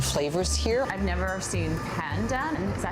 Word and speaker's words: pandan: I've never seen pandan. Is that how you say it, pandan?